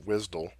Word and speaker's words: WSDL: there's a change in the WSDL which is pronounced wisdom stands for web service